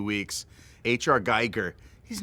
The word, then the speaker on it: Giger: Geiger, he's not for kids.